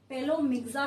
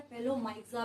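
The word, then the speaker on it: Pelomyxa: यहाँ पे first example जो है हमारे पास, दैट इज पेलोमिक्सा, भी कई लोग इसको बोलते हैं, पेलोमाइक्सा भी बोलते हैं, उससे कोई फर्क नहीं पड़ना है किसकी स्पेलिंग क्या है, ठीक है।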